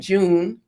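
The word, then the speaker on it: JoOn: So, you know, these No, y'all gotta say it right. You spell it J-O, capital J, capital O-O, capital N. June.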